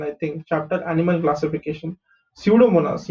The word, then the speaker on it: Pseudomonas: Pseudomonas, यहाँ पे P silent है, okay?